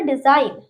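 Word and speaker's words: design: Okay, N से पहले जी आता है तो जी साइलेंट होता है। किसी भी वर्ड में एन आ रहा है, उसके पहले जी है तो हम उसे साइलेंट रखेंगे, जी को नहीं पढ़ेंगे। एग्जाम्पल देख लेते हैं।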